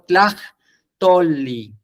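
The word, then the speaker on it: tlahtolli: una doble L, pero la pronunciación sería lo mismo, tlaj, y ahí aspiro, tlaj, tolli, tolli, por eso alargo, tol, y vuelve a repetirse el sonido de L, li, tolli, tlaj, tolli, y K lo vería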